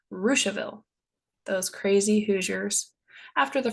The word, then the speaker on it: Russiaville: My favorite are Versailles, which is pronounced Versailles, and Russiaville, which is pronounced Ruchaville.